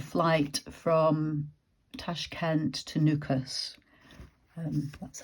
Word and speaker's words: Nukus: to catch a flight from Tash Kent to nukas um that's how you spell it n u k u s and that